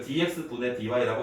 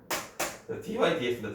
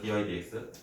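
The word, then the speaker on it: dy/dx: 그래서 이걸 dx분의 dy라고 읽지 마시고, 근데 나도 모르게 dx분의 dy라고 할 때가 많아요. 이게 그 뭐라고 하죠? 살아온 세월이기 때문에. 옛날에 어떤 아이가 그랬어. 자기 학교 선생님이 그랬대. 이거를 dx분의 dy라고 읽는 사람은 다 옛날 사람이라고. 그 이야기를 나한테 하더라고. 내가 dx분의 dy라고 얘기하는데. 그래서 되게 슬펐어. 때릴까 했어요. dy dx다 dy dx.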